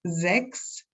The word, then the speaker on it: sechs: For example, CHS in sechs is pronounced like an X.